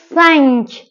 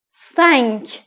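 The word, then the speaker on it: cinq: ای و ان تلفظش هست ا ان پس میشه سنگ سنگ عدد ش سیس سیس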